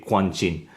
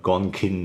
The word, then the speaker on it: Guanjin: There has been some confusion online as to how you pronounce that in English, Gonkin or whatever, but in Chinese it's Guanjin, right? That's really what it is.